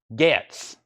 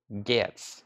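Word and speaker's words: Getz: Hard G. So Gets. Okay, so it's not Jets. It's Gets.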